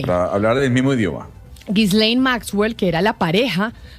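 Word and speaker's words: Ghislaine: señor Jeffrey Epstein, que además me parece dificilísimo pronunciar el nombre. Gislane, ¿no? Así se pronuncia. Gislane Maxwell. Sí, Gislane le dicen algunos, Gislane le dice usted. Entonces ahí digamos Gislane para hablar del mismo idioma. Gislein Maxwell, que era la pareja de Jeffrey Epstein,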